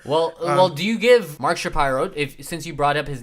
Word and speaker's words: Shapiro: And, with the new brass coming in and Ross Atkins and Mark Shapiro. Yeah. Sorry, I have to say his name right. It's not Shapiro, it's Shapiro.